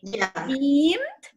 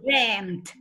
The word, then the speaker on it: dreamt: You can say dreamed or dreamt. You have two options.